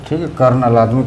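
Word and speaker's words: colonel: होता है को लेफ्टिनेंट कर्नल का कॉलोनल होता है कॉलोनल कर्नल कर्नल कर्नल पड़ता है अच्छा ठीक है रिलेटिड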